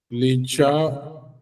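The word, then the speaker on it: lit: ली ली okay ली एल आईटी spelling L आईटी है हां और पढ़ते ली है ली ल और बड़ी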